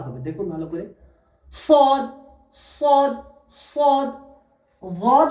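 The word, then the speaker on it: صاد: সদ উচ্চারণ হয় আপনার এই যে দেখছেন এই দুই ঠোঁটটা এমন ভাবে বার হবে চার কোনা টাইপের, আর একটি হাওয়া বার হবে, দেখুন ভালো করে। সদ সদ সদ।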